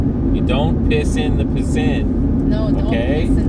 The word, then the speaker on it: piscine: In French, it's a piscine, okay? But if you say it like slow, it's a piss in, right?